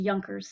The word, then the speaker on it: Junker: class living in Prussia called the yonkers spelled with a J looks like Junkers and they are very